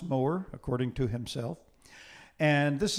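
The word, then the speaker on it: Mower: moer as an english composer and it is pronounced moer according to himself and this is the third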